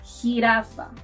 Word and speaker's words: jirafa: You'll also find it in words like Jamaica, jicama, jirafa. As you can see, our J is like the H in English. So, to pronounce la letra J, think of history or hungry.